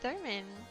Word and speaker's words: theremin: And then the THEREMIN.